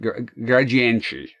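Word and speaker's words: Gradiente: And uh Tech Toy is the company that made the the Sega stuff and a comp a company called uh Gradient Gradient, they they pronounce it that way.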